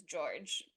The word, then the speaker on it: Jorge: working in entertainment media, I thought his name was Jorge for a long time because that's how it's spelled. And then I found out his name is George. And that's just how he spells it. He spells it Jorge.